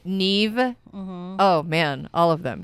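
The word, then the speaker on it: Niamh: um doesn't look like ca uh mave n Neeve oh man all of them yeah so The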